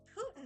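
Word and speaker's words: poutine: yeah did finally try what poin was or Putin apparently is how you pronounce it mind blown on that but yeah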